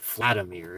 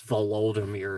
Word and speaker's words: Volodymyr: It's not Vladimir, it's Volodymyr or something like that.